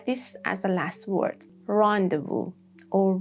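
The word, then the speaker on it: rendezvous: rendevu or rendevu sin.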